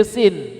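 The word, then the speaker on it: سين: Kalau sin dari ujung lidah, jadi tengahnya nggak ikut. Ini sin.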